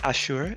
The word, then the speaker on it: Asher: I've been pronouncing it like in the Hebrew way, Ashur, emphasis on the second syllable.